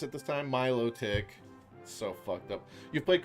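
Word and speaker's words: Milotic: I remember how to pronounce it this time. Milo Tick.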